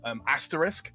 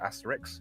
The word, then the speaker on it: asterisk: Asterisk is one that a lot of people have problems with. They pronounce it Asterix after the comic book character. It's not the same thing.